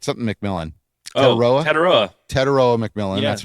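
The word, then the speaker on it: Tetairoa: I never pronounce his name right. Something McMillan. Teteroa? Teteroa McMillan.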